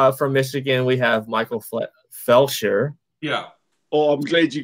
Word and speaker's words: Felsher: So I've gotten Fletcher, Flesher, Fulcher, Felcher, which is not good.